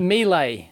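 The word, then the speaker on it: Miele: Mila. That's how you pronounce it here.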